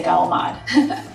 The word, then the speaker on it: calamari: And we don't say calamari, we say galamad.